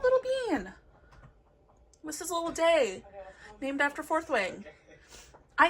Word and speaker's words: Dee: It is D. They say Day once out of the many times that Dee's mentioned, so I call my bearded dragon Day, but it is spelt the same way, and this is who it is named after, so whatever we want to call it, D or Day.